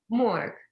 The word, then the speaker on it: Morok: I've pronounced it wrong already. Daria, can you tell me how to pronounce it properly? Because I'm no good at this. Morok. There we go. That's Morok. Perfect.